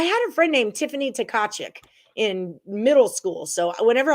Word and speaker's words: Tkachuk: Yes, the T's are silent. I had a friend named Tiffany Tkachuk in middle school.